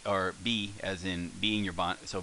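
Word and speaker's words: ば: come down here so here we have is the ha which if we voice it becomes ba then while we're down here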